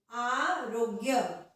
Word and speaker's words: आरोग्य: तो आ अलग से, रोग्य में रोग जो है वो एक साथ उच्चारित हो रहा है, ये अलग उच्चारण है, इसका अलग उच्चारण है और इसका अलग उच्चारण है। आरोग्य बोल के देखिए आप लोग भी, आरोग्य नहीं, आरोग्य गलत हो जाएगा, आरोग्य।